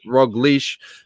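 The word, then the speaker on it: Roglič: mataj informs me that roglich pronounced roglish means croissant speaking of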